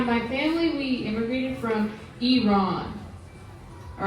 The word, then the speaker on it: Iran: name of the country, Iran. So if you pronounced it correctly, which is Iran, you were against the war.